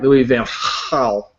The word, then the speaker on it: Louis Van Gaal: Let me pronounce his name right, Louis Van Gaal.